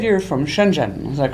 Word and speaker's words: Shenzhen: the south hmm now you said you're from Shenzhen is that correct does that my saying it